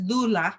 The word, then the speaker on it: doula: said thee word is dulah that's how you pronounce it in Greek and she says itah